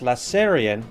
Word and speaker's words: lasairfion: Lass and he says, "Uh, PS, if you do feature my stuff, my name is pronounced Lasserion. The F is silent." All right, let's bring it up. So, this shout out to Lasserion.